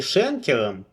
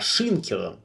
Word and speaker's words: Шенкер: Весь выпуск Цыпин почему-то называет меня не Шенкером, как правильно, а Шинкером. В одном месте он даже отдельно остановился на произношении фамилии.